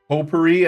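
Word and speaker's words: potpourri: said that word right pot pori poer I think is how you say it po po God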